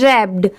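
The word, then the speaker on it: wrapped: ई figure ये है रैप्ड अब जैसे देखिए यहां पर डब्ल्यू की साउंड नहीं आ रही है। सिर्फ डब्ल्यू आगे लगाया हुआ है।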